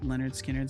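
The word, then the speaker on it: Lynyrd Skynyrd: also F this name if you want people to say Leonard skinnard spell it corre accordingly well it's it's you know Max you're just going to have to accept that some things aren't spelled phonetically you're just going to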